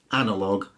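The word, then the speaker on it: analogue: I did there mmm-hmm words the end gue or L o gue in those cases the U is silent and it hardens the G so colleague lead tongue catalogue dialog analog and indeed epilogue so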